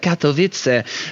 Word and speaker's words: Katowice: For someone who claims to be as dyslexic as you are, you just said Katowice like an actual Polish person says it.